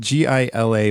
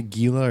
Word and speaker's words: Gila: poisonous yeah it's spelled g-i-l-a monster you say Gila or Gila I've heard it g is the H if you're cool okay monster it's kind